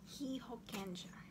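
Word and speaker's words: 被保険者: Hihokenja. So we have two hihokenja, two types, two categories. Hokenja. This is pronounced as ja and not sha.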